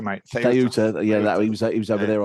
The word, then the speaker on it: Ceuta: Mark Domenech is back from, he was at your place in, how do you pronounce it? Sueta, whatever it's called. Ceuta, mate. Ceuta.